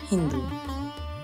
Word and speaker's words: হিন্দু: কিন্তু পার্সিয়রা উচ্চারণে স এর উচ্চারণ না করে হ উচ্চারণ করতেন। তাই তারা বলল সিন্ধু এর পরিবর্তে হিন্দু।